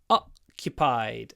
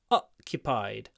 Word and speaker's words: occupied: large part of China occupied so the stress is on the at the beginning but it's a clip because it comes before an unvoiced C occupied pause cupied o occupied a large part